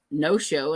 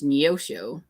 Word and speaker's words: Neosho: And my mom pronounced the town by us no show, and it's Neosho. And I'm like, there isn't E in there. You do know that, right? It's not just no show.